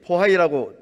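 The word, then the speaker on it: Bohai: 여러분, 혹시 포하이라고 들어보셨습니까? 중국이 발해를 중국 왕조였던 것처럼 속이기 위해 중국어 발음으로 영문 표기한 것이 포하이입니다. 해외 역사 사이트나 유명 백과사전, 외국 교과서 등에 우리식 발음인 발해보다 포하이가 훨씬 빈번하게 등장하고 있습니다.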